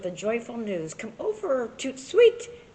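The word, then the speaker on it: tout de suite: Come over, toot sweet. That's French for right away. You say it like this, toot sweet.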